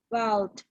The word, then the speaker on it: wild: Okay, so pronounce the D on the end, okay? Wild. One more time. Wild.